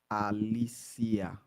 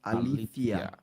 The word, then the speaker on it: Alicia: So she says, I was named after my grandmother Uh-huh. in Latin America. It's pronounced Alicia. Alicia. So it is Okay. Alicia in Latin America. Okay. In Spain, where it originates in my family, it is pronounced Alethea.